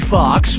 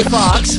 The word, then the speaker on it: Foxx: Player 1, Jamie Foxx's last name has 2 X's in it. The first X is silent.